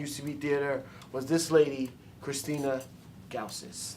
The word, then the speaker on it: Christina Gausas: theater was this lady, Christina Gausas. Did I say it right? Yeah, perfectly. Perfect.